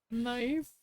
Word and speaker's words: knife: are from the French knife knife yeah and I guess the K I mean it used to be pronounced knife but then we just we threw that out Define the following prefixes